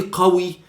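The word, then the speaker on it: قوي: Or 95% we don't pronounce them, but some exceptions like this one, we have to pronounce the qaf. In this case, when I say qawi, it means strong.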